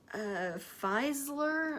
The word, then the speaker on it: Fieseler: Fieseler, I believe is how you say it.